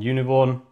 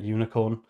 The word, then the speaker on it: uvicorn: the SSE server on uvicorn, whatever it's called. I always get this name wrong. I always call it unicorn.